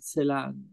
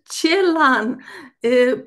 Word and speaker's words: Celan: proximité familiale, amicale, Paul Selan. Vous m'avez dit en plus hier, on ne prononce pas Paul Selan. Comment on prononce Paulane ? En en on prononce Chelan Paul Chelan.